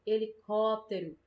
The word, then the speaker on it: helicóptero: vendo olha olha o caso de helicóptero a gente não fala ele pode ter ó e nem helicóptero nem helicóptero né a gente fala helicóptero a gente pronuncia todas as outras sílabas mais rápido e só a gente puxa mais percebe helicóptero certo Ah é Então